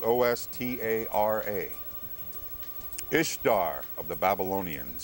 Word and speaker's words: Ishtar: The name Ishtar, spelled I-S-H-T-A-R, pronounced Easter, literally was the name of the pagan virgin goddess of spring.